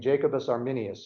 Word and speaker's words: Jacobus Arminius: which will eventually reach an argument between the followers of John Calvin and the followers of a man named Jacobus Arminius I think is how you say his name